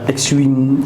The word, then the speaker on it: Xwin: Alors, il y a un X-Wing. On dit X-Wing ou c'est X-Wing?